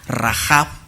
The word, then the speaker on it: Rahab: del nombre de rap que la h se debe pronunciar como j rahaf y en la raíz